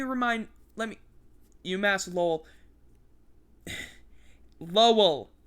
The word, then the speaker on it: Lowell: let me umass lowell lowell l-o-w-e-l-l but you don't i don't pronounce the uh w that much i do a very light one it's a umass lol so okay i didn't